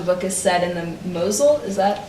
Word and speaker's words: Mosel: And I also know that much of the book is set in the Mosel, is that how I'm pronouncing it?